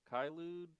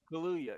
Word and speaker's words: Kaluuya: Kylude? Am I saying Oh, that Daniel right? Kaluuya. Kaya? Kaluuya.